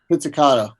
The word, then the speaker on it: pizzicato: Oh, I feel really bad because I'm not really big on pronouncing music terms. Pizzicato? Pizzicato.